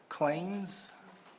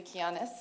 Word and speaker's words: Kianis: Next, we have Clains. Did I pronounce that name correct? No, that's okay. Help me out. Good evening. My name is Kianis, and I reside in Killeen, Texas.